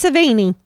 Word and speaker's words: Sevigny: Yeah, you just swallow the last few letters and you say it right.